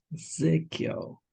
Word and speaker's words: Ezekiel: What about Ezekiel? Ezekiel. Hmm. I feel like the second one. Good. Yeah. Ezekiel.